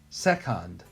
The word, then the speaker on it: second: ah um second and why is this c not making the S sound well the next letter right next to it right that's not an i e or Y so the C makes the k sound that's why second so our last word